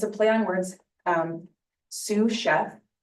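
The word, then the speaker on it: Sioux Chef: Um, Sue Chef, but it's spelled S I O.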